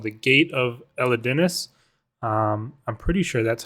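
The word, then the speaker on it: Elidinis: right in their video a lot of people said elness but there is another I after the D Elis I don't know don't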